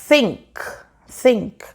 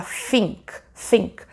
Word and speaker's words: think: não, como por exemplo o som do TH, que muitas pessoas acabam pronunciando errado. Por exemplo, think, né? A pessoa fala think. Porque esse é o som que nós mais temos na nossa língua, que é o F.